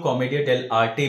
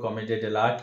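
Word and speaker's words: Commedia dell'arte: तो कई लोग इसको कॉमेडिया डेल आर्टे कहते हैं, बट the correct pronunciation of this theatre form is कॉमेडिया डेल आर्ट.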